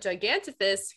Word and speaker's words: Gigantopithecus: I wasn't reading it as a soft PH. I was reading it as a hard P. I was like, this cannot be right. but Gigantopithecus, who held the title